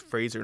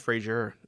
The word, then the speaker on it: Fraser: It is pronounced Fraser, not Fraser.